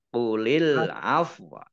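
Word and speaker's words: قُلِ الْعَفْوَ: Alif lam komariah ditandai lamnya ada tasdidnya. Kemudian fa sukun juga waw sukun karena wakaf, maka bacanya ya antara fa dan waw. Qulil afwa. Qulil afwa.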